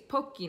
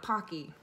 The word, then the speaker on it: Pocky: always pronounce it sake same with pokey its pokey not Pocky anyways besides the point